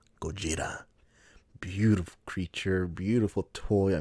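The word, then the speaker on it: Gojira: is godzilla himself or how he's supposed to be pronounced gogeta beautiful creature beautiful toy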